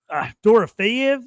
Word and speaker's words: Dorofeyev: Toast will be talking for an hour if we had him on here right now, talking about Marchenko and Mishkov, Dorofeyev.